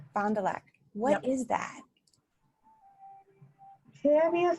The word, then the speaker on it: Fond du Lac: do you say the talent your town's name fond du lac fond du lac what is that tammy as the finale is